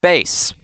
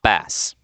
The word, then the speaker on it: Bass: But yeah, I think that's all from me today, so y'all have a good day, and remember, it's pronounced bass, not bass.